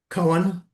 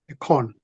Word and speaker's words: koan: Do you know what a koan is? Koan? A con? Koan. No, It's no, spelled like, never.